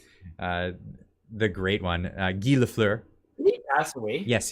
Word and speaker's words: Lafleur: got no worries I've heard uh LaFleur being pronounced uh Laffer yeah guy laugher that one always that was cracked me up the pronunciation the the famous hockey player uh the great one uh gilafler did he passed away yes he did he